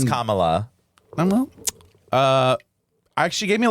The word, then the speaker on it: Kamala: Well, some people say it wrong. Right, still. they're Camellia. Camellia. That fucking Indian. No, it's Kamala.